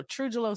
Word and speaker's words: TruJuLo: about that yes yes when I tell you it might help with the pronunciation A little bit so truelo stands for truth justice and love so that J is for Justice and um it I'm